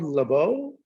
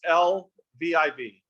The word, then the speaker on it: Lviv: You're saying like one of the main cities, Lviv, is that what used to be called Lvov? I may be saying it wrong. It's Lviv.